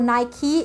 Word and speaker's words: Nike: If you guys don't know who Phil Knight is, he is the founder and creator of Nike, or Nike, actually that's how it's pronounced, I found out.